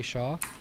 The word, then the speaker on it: Shah: get going um Akshay is it Shaw is that your last name yeah you got it okay just got to